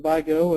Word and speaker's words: Vigo: I'm the, as Mary said, the 911 Director for Vigo County. Some people pronounce it Vigo. It's kind of depending on the state that you're in or the area.